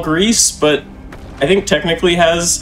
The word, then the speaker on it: Gris: seen it before uh you might think it's griss or gray uh depending upon what language you're using to pronounce it but it is Greece it is Spanish for gray uh we have about